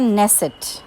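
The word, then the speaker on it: Knesset: Israel का parliament है और हम इसको बोलते हैं नेसेट, के इज साइलेंट, नेसेट।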